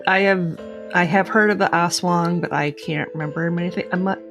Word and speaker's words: aswang: at pronouncing that because it's spelled a-s-w-a-n-g so it looks like as wang it's uh it's oswang yeah you're right yep i reached out to john yeah from reddit it was it read it on wiki now yep yes to ask how to pronounce it because it's like i don't want to do this wrong ass wang yeah that's because some americans do say ass wang like of course have